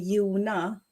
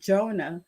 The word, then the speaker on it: Jona: In Sweden, they call me Jona. So they pronounce the J as Y, but actually it's called Jonah, the English version.